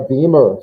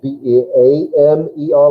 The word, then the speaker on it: Beamer: It really kind of breaks the rule of the pronunciation because it's a, yeah, I don't know. They're trying to get B-E-A-M-E-R like it's beaming a signal, but you use the double E. I'm not sure why.